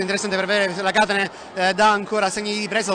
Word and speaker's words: Katane: Sì, abbiamo finalmente chiarito l'accento dove deve stare, perché comunque fra Catane e Catane abbiamo capito che è Catane, da ora in poi, esatto, sì, da ora in poi non sbaglieremo più.